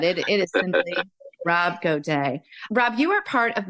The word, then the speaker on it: Gaduet: as a superhuman um I have on Rob goday with me and I'm not even going to tell you I how I pronounced his uh his name before we even